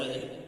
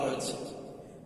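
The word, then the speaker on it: حاء: না জিম জিম জিম হা কন্ঠনালীকে তিন ভাগে ভাগ করা হয়েছে তার মধ্যে হা উচ্চারণ হবে ওস্তে হালকা থেকে এই কন্ঠনালীর মাঝখান থেকে হা গলাটা চামড়াটা টেনে পড়েন হা উচ্চারণ ঠিক হয়ে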